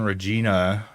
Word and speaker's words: Regina: Regina rhymes with that. A Regina.